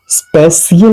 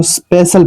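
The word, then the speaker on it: special: ई सी आई एल इसको स्पेशियल नहीं पढ़ा जाएगा सफे सीएल नहीं पढ़ा जाएगा। इसको स्पेशल पढ़ा जाएगा।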